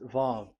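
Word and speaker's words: ו: So it's V as in Vogue. So it's really V. How to read Vogue? So the word, the shape Vav is really pronounced V, like Vogue. That is it, pronunciation. So here in this side, it's pronunciation. This is pronunciation. So according to the old Hebrew word today, those who, the owner of the words, I mean, so it's a V. So don't change it into W, and you will say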